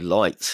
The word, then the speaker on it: Lyt: now shutting down and finally ticketing company lights that's spelled lyt lights has shut down uh despite receiving $53 Million